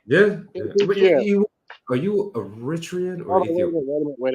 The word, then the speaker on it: Eritrean: are you Eritrean or Hold on, Ethiopian? wait a minute, real quick. Eritrean. I'm Eritrean. It's Okay. Eritrean, not Okay. Eritrean, like some people mispronounce it.